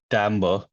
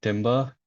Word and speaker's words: timbre: was played Amber and it's pronounced Timbre not Timber is just the same